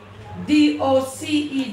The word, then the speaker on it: doce: So in central Spain, the C is pronounced like T-H. Doce. Doce. I know what it is. But in other parts of Spain and South America.